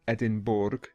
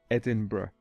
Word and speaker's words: Edinburgh: It's actually the capital of Scotland, and many people pronounce it Edinburgh, but the correct pronunciation is Edinburgh.